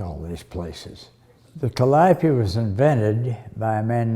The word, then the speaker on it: Calliope: We'll name it Calliope or Calliope. And which the Greek goddess of beautiful sound was Calliope. Mispronounced everywhere as Calliope. We had a Calliope project, Calliope Street here. And Webster's dictionary decreed that Calliope was the proper pronunciation. It was a pronunciation of that Greek goddess's name, and Calliope was the colloquialism.